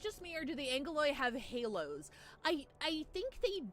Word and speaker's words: Angeloi: So it's spelled Angeloi, but everyone pronounces Angeloi like angel, and they have halo.